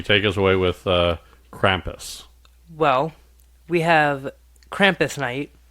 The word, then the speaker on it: Krampus: to say his name I thought it was kumus I this whole time I thought but I was wrong see now you got